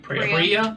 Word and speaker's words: Priya: Pira 2. You I'll said your find it. sister's name wrong, by the way. I thought it was Pira, or is it Fira? Priya. Priya. Think of like a Prius.